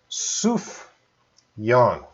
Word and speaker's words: Sufjan: difficult because I don't know how to pronounce pronounce Sufjan Suh Yong so it sounds like I'll type it so